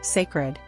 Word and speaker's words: Cécred: a trailer for her new hair Caroline secer pronounced sacred the commercial features a range of hairstyles and